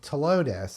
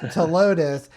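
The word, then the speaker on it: Ptilotus: throws everybody off because it begins with a p that's silent and then it's just to Lotus and the one that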